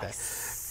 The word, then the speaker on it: Weiss: And it's actually Janet Weiss. Oh, thank you. You have to say it like Weiss.